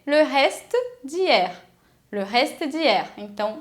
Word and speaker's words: reste: Só que atenção, se essa palavra acaba em E, que não tem acento, esse E não vai ser pronunciado, ele é mudo. Então por isso que não é resté, é reste.